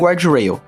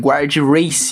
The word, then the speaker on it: guardrail: This also applies to walls and guardrails. Fun fact: I only discovered I'd been mispronouncing "Guard Rail" my whole life while writing the script for this video. I called guardrails "guard race."